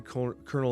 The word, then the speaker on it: Colonel: Now, when Zombie Power Man came out and Colonel America came out, Colonel America, I should say, I didn't pronounce the R, the invisible R.